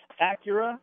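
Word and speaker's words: Accura: know he said do you pronounce that acura or akura acura and the one the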